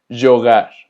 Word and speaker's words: jogar: La letra J también suena como una Y, de hecho se llama Jota. Y esta letra siempre se va a pronunciar como Y sin importar qué vocal tenga después.